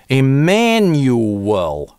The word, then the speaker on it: Emanuel: Emanuel здесь у нас появляется. Или дифтонг , или долгое , как кому нравится. Это так американцы чаще всего реализуют бабочку /æ/ перед звуком [n]. Emanuel - а вот здесь у наc linking [w], потому что nyoo это /uː/. Ooh well c последующим гласным это связывается так.